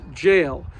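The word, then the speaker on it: gaol: Now, even though the spelling on the sign looks a little strange, it was still pronounced jail. So same pronunciation.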